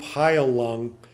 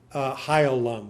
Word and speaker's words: Heilung: I discovered the group Heilung, which is kind of a Scando-European, Proto-Germanic sort of music.